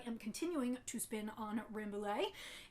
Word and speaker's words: Rambouillet: This week I am continuing to spin on Rambouillet, and or Rambouillet if you pronounce it the French way, and this is a